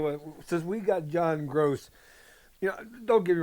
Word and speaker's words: Groce: said gross, like, ew, GROSS. And a female Akron fan commenter said, no, it's spelled gross, GROCE. And that, as John Gross, the coach, that was the best comment.